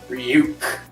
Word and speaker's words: Ryuk: And then 45 seconds later, he says, hey kid, it's pronounced Ryuk. And he's like, oh, Ryuk.